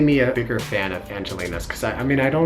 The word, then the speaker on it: Angel-in-us: We ended up going to a cafe that's popular in Korea called Angelina's, but it's spelled like Angel in Us Cafe.